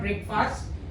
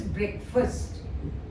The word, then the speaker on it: breakfast: just told you break it's not breakfast it is breakfast first first we say